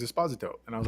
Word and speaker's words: Esposito: you know well because everyone used to say Esposito but I heard him in an interview say his name is Esposito and I was like